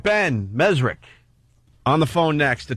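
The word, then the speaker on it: Mezrich: We got Ben on the phone, Ben Mesrick, or Ben Mesrich. Always pronounce his name wrong. Mesrick, you think?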